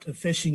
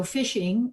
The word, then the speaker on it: phishing: from you um so phishing although it's spelled p-h-i-s-h-i-n-g not the f i s h i n g um is essentially trying